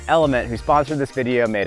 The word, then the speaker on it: LMNT: to the guys over lmnt pronounced element who sponsored this video